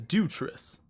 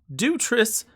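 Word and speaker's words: Dewitrius: a wife oh no no my name is dutress dutress dutress gonna be hard to remember can you spell that d-e-w-i-t-r-i-u-s do tris i got the nickname from dropping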